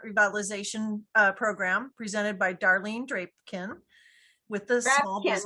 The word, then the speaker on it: Drapkin: This morning, we're going to learn about the Restaurant Revitalization Program presented by Darlene Drapkin with the small business. Rhymes with napkin.